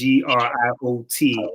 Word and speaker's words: griot: It's GRIOT. Griot is a French word, so the T is silent.